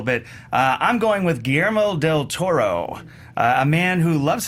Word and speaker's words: Guillermo del Toro: Acclaimed Mexican writer director GMO del Toro was already an established filmmaker by the time he released Pan's Labyrinth in 2006.